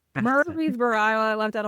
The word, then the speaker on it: Murfreesboro: It's Murphreey'sboro. Murphreey'sboro.